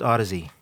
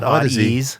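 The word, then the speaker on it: Audeze: It's pronounced Odyssey. It's pronounced not Odies. No. I hear that one a lot. No, Odyssey is good.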